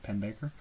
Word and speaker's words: Pennebaker: by uh D.A pennebaker I think that's how you pronounce his last name pen Baker but um you know